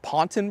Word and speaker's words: pontoon: Chris pointed out uh pontoon bridges are temporary Bridges and technically they're they're pronounced ponton Bridges they're French in English we put two o's in there the French only have one these things date back